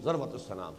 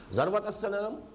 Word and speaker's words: ذروة السنام: کوہان کی بھی چوٹی ذروۃ السنام، سنام کوہان ہے، اور ذروہ یہ دونوں اس کی تلفظ ہے، زال کے زبر کے ساتھ بھی اور زال کے زیر کے ساتھ بھی، ذروۃ السنام اور ذروۃ السنام۔ تو